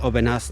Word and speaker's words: Aubenas: I feel like in the in the north you're more likely to have a silent s at the end of um a word or a town but here in the south they usually pronounce the as it's like with the wines Gigondas, Vacqueyras and city Aubenas, not too far away